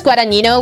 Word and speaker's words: Guadagnino: The director is Lucas Guadagnino, which is how his name is pronounced.